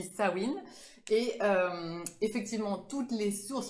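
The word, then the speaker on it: Samhain: dit staouine donc voilà on dit pas sa main ça s'écrit sa main mais on dit ça win et effectivement toutes les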